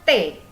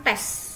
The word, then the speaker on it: tes: Dibacanya T. T, bukan tes. Oke, dibacanya T. S tidak dibaca.